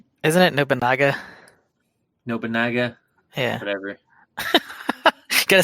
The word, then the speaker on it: Nobunaga: with Shogun, the Archer, and the Explosion Master, Nobunga Oda. Oda Nobunga. Sorry. Gotta say his name right. Isn't it Nobunaga?